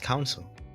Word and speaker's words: Council: It's pronounced council. Council. Council. Console is like, Switch, Xbox.